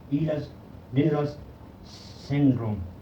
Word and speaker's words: Ehlers-Danlos syndrome: Pronunciation is Ehlers-Danlos syndrome.